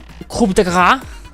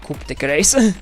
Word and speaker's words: coup de grâce: It was like coup de grace, I think. And I think I'd probably butchered it. Okay, let's give me a second. So I don't hear Discord. I want to read it right. I'm sure it's not Coupe de Grace.